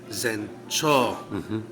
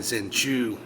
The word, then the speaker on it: Zencho: Everyone kept saying Zenchu. Yeah. No, the OU had written that specific order, and if it's Japanese being written in Romaji, also known as our everyday alphabet, that's a long O sound, not a U.